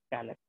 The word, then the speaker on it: calyx: क्या प्रोनाउंस करेंगे इसको, कैलेक्स।